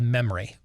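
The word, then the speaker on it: MEMRI: account you need to follow an account called memory m-e-m-r-i it's how it's spelled m-e-m-m as in mary e-m-r-i and all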